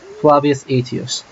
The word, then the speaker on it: Flavius Aetius: That's actually really good pronunciation for medieval Latin. Flavius Aetius.